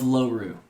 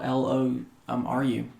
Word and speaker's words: Loru: So you are in the land of Loru. It's spelled like four letters. Really simple. L O R U um Lom Ru Loru and Loru